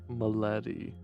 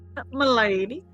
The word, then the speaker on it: Milady: Malady. That's not. That's the That's not one. how you say it. Milady? Milady.